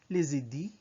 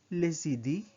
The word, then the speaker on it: les idées: For ideas, you say les idées, les idées, les idées. Notice that the sound of the S is combined to the sound of the I. It's as if les idées is one word.